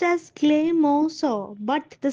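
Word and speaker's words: Clemenceau: Now this is pronounced as Cleos but the spelling is Clemensio.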